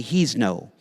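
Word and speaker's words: Hezno: name me you can just call me he's know it's spelled h-e-z-n-o um he's no einstein um my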